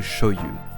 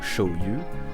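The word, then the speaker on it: 醤油: Le mot shoyu s'écrit avec 2 caractères. Le premier se lit sho et désigne une pâte fermentée, souvent de soja ou de céréales. Le second se lit yu et signifie huile. Mais dans ce cas, il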